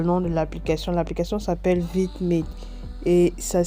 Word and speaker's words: VidMate: L'application s'appelle VidMate et ça s'écrit V majuscule, I minuscule, M majuscule, A, T, E.